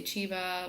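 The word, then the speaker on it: Curitiba: so I flew to good Achieva it's spelled could eat Eva I don't know some people say chiva whatever most Brazilians I think say quid each Eva so I flew there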